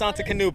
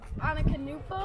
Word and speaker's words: Antetokounmpo: Giannis Antetokounmpo. All right, yeah. Say it. Antetokounmpo?